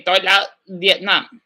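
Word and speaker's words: tôi là Việt Nam: And then if you were to say Vietnamese, you say tôi là Vietnam, right? Tôi là Vietnam. That's how you pronounce it.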